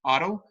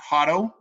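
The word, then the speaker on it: Haro: of the foundation of the town Otto, not Hotto, not the H. H is silent, it's Otto.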